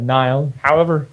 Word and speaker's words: Nail: Because after all that speculation about Nail Yakupov, or Niall, however he wants to pronounce, I think he said he's cool with Nail.